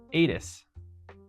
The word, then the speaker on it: ATIS: ADIS um the automated terminal information system ATIS we say it ATIS instead of Alpha Tango India Sierra but um we actually pronounce this for some reason.